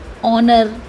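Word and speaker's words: honour: कभी कभी कुछ वर्ड्स ऐसे होते हैं जिसमें एच से स्टार्टिंग होती है, लेकिन वो एच क्या होता है? म्यूट होता है, वहाँ पर साइलेंट होता है। जैसे कि आर, ऑनर, एयर। यहाँ पर आप देख सकते हैं कि एच की कोई भी साउंड नहीं आ रही है, तो यानी कि वो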